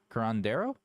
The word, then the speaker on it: curandero: Curandero?